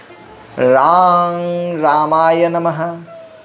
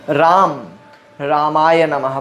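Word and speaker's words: रां रामाय नमः: रांग रामाय नमः, यह मंत्र है। रांग रामाय नमः। कुछ लोग इस मंत्र को राम रामाय नमः बोलते हैं।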